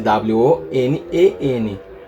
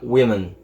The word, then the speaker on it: women: são as mulheres vira Women Women tá o o vira som de i tá então por isso